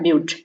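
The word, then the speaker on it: but: यहाँ स्पेलिंग आपको बट का दिख रहा होगा लेकिन इसे पढ़ा जाता है ब्यूट।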